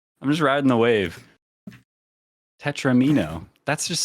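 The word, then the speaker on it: tetromino: that yeah no I I hear people say tetraminos and I'm like no it's tetramino like like touch like Domino like Tetris Domino tetramino but is it is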